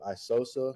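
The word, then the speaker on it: Aisosa: that how to actually spell it out and pronounce it all now you're good man so uh Instagram is my middle name isosa I have I have an X in the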